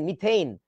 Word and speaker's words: methane: METHANE, মিথেইন। এবং তোমাদের একটা নিয়ম শিখাই, ইংরেজি উচ্চারণের নিয়ম। যখন তুমি এ পাবা, তারপরে একটা কনসোনেন্ট পাবা, এবং তারপর একটা ই পাবা, এটার উচ্চারণটা হচ্ছে এই এই।